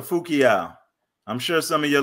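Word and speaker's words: Fu-Kiau: And that is by Kia Bonseki Fu Kayu, PhD. How did I do with that one? It's Dr. Fukiao.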